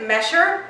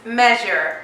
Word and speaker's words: measure: you pronounce this word if you say measure it's wrong although there is up s right there it's measure how difference this word